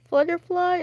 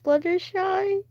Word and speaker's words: Fluttershy: You still remember I said Flutterfly instead of Fluttershy?